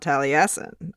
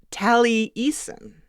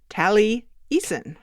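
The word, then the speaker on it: Taliesin: has a masters he has some insight about tally assin our first experience back on Monday and he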